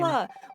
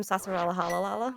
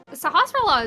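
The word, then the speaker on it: Sahasrahla: Sahasrara. When I was a kid, I called him Sasarala Halalala because I was just like, that's too many S's and L's, and I don't care anymore. Sahasrara is always an interesting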